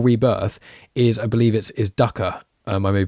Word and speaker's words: dukkha: Dukkha, yeah, dukkha, there you go. Which means, which literally means Dukkha.